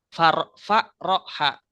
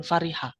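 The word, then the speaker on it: فرّح: enggak ada ma'ful bihnya kalau ada lafaz Fa ro ha zaidun amron Oh berarti itu bacanya faroha bukan Fariha karena di situ ada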